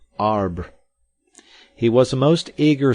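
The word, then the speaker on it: arbre: a piece of bark he learned from darno that it was pronounced um and in the same way he was taught to pronounce ape songs and tree arb he was a most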